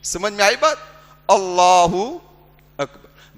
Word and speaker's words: اکبر: اللہ اکبر. بعض لوگ اکبر کی جگہ پر اکبار پڑھتے ہیں. کیا پڑھتے ہیں؟ یہ بھی غلط ہے.